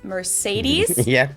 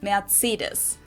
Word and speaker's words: Mercedes: most americans call this mercedes in german we pronounce it mercedes so mercedes versus mercedes